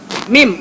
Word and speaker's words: meme: Jadi kalian mesti mim mem. Oke, mem bacanya mem bukan please.